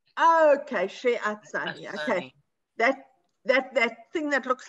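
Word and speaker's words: שֶׁעָשַׂנִי: Sheyah. It's not Yah. That's an ayin. Yeah, ayin is silent. It just looks like a Y. Yeah. Oh, so Sheyasini. She-a-sani. Okay, she-a-sani.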